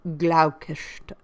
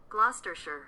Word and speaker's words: Gloucestershire: Tilney's being a clergyman, and of a very respectable family of Gloucestershire.